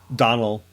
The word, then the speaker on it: Donal: with art by Donald delay is how you pronounce his first name dis do nal dunno Donnell Donnell delay I've heard Donald yeah and this is